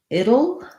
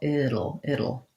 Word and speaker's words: it'll: It will becomes it'll, and here's where we end up flapping that T. It sounds like it'll. That's the same thing we do in words like little and Seattle. So being able to do that light flap and then the dark L, it'll.